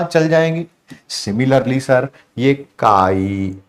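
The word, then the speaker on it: chi: लिखो या काई लिखो सी आई होता है स्पेलिंग उसके बोलने में काई आता है ये मोल फ्रैक्शन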